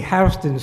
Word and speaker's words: Houston: It's always going to be Houston Street in downtown Manhattan, because the guy's name was Houston.